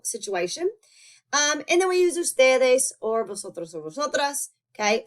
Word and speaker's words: ustedes: As you might have noticed, usted and ustedes are very often abbreviated to capital U, lowercase d period, and capital U, des period. Okay, still going to be pronounced usted and ustedes.